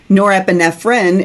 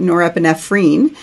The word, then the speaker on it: norepinephrine: spell it correctly, because dopamine is pronounced dopamine even here in the United States. But norepinephrine is how we pronounce it here in the U.S. Other places pronounce it norepinephrine, which is a little more helpful in the context.